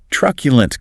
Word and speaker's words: truculent: Truculent quad. Stress on the first syllable. That Q is like Q. The last syllable is a schwa.